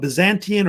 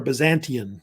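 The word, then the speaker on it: Byzantium: northwestern Turkey, which was called Byzantian or Byzantian, was usually how they pronounced it, basically.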